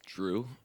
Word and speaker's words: Dreax: Dude, her name in the show is or in the movie is Drew, and it's spelled Dreax. It's sick.